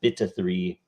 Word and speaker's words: 0xb3: It's pronounced beta 3.